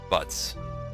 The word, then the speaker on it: Butz: Butz. B-U-T-Z. Which, historically, is a real name. It's some kind of European name, I forget which country exactly. But obviously, since that rhymes with a certain English word, nobody would be able